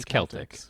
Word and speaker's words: Celtic: so the Celtic people which by the way is the correct way to say Celtic even though we're in Boston and we have the Boston Celtics yeah it really should be Celtx but you can't walk